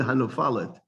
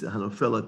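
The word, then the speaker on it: הנופלת: lanu et sukat David hanofelet. You would think it would be hanofalet, but actually it's hanofelet there.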